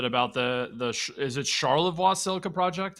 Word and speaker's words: Charlevoix: us a bit about the the is it Charlevoix silica project how do you pronounce that yep that's correct got it right